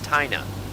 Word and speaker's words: Tina: believe this i'm in a little town called tina missouri no no no no sir that's wrong it's taina missouri okay you spell it tina t-i-n-a no it's it's pronounced china